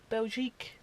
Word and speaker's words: Belgique: Belgique.